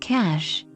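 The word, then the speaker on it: Kaş: If you're looking for a cute seaside town to spend some time, then look no further than Kas, pronounced Cash.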